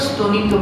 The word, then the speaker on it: স্তনিত: যেমন আমরা যখন বলছি যে সমুদ্র স্তনিত বৃদ্ধি, এই স্তনিত শব্দটা কিন্তু আমরা স উচ্চারণ করছি।